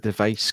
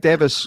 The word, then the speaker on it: Device: Janet Davis I keep I need to tell myself to say Davis because I keep what he said device because that's how it's spelled and it's also how